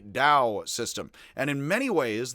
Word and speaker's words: Dao: The most famous and simple difference is that what was Taoism is actually more pronounced Taoism, and today is not spelled with a T and is spelled with a D, which is Taoism.